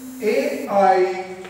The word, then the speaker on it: aisle: The word is AISLE. Now please try to understand. First of all, the pronunciation is I. S is silent.